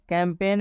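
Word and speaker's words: campaign: होता है इस्तीफा देना कैंपेन कैंपेन में भी जी के बाद एन आया है मतलब इस एन का उच्चारण होगा लेकिन इस जी का उच्चारण नहीं करेंगे कैंपेन कैंपेन का मतलब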